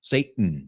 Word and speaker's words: Satan: Now, I imagine the British say the T more, Satan. But Americans, remember, we use that glottal stop. Satan, Satan, Satan, Satan.